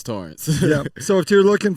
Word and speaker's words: Tarrance: exactly but it's uh torrance right yes so spell t-a-r-r-e-n-c but pronounce torrance yeah so if you're